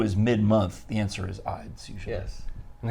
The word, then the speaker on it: Ides: And beware the Ides of October, because today, October 15th, is the Ides of October. Because everyone thinks there's only one Ides, but there's 12 Ides. Each month has its own Ides.